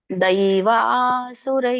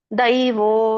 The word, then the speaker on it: ದ್ವೌ: ದ್ವೌ ನೋಡಿ, ಅವು ಸ್ವರ ಕೂಡಿದೆ, ಮತ್ತೆ ಜೊತೆಗೆ ಒತ್ತಕ್ಷರ ಇದೆ. ದ್ವೌ ದ್ವೌ ದ್ವೌ ಹೇಳಿ ಮತ್ತೆ ವ ಹೇಳ್ಬೇಕು. ದ್ವೌ ದ್ವೌ, ಆಮೇಲೆ ವ ಬರುತ್ತೆ. ಭೂತ ಸರ್ಗೌ, ಅಲ್ಲಿ ಕೂಡ ಔಚನೆ.